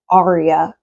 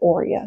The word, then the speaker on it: aurea: I heard somebody pronounce it Aria once, but most people pronounce it aurea.